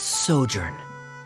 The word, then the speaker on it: sojourn: clear uh director's osimos how do you pronounce this word let me see Ah that's that's sojourn it means to stay for a while this